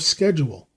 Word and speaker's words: schedule: was sufficient to establish the american pronunciation of schedule in england the sch is always given the soft sound but webster decided for the hard sound as in scheme the variance persists to